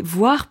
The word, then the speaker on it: voire: Et ensuite, il dit voire plutôt 3 à 4 par jour. Alors attention ici, voir, ça se prononce comme le verbe voir, to see, mais ça s'écrit différemment.